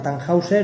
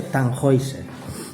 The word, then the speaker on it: Tannhäuser: se estrena en 1845 en español la gente le llama tannhäuser y los viejos de mi banda le llaman el tannhäuser pero bueno se dice tan hoi sera ya en esta época